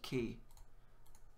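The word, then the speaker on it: き: easy one to remember cuz it looks like a key it's pronounced key so just imagine a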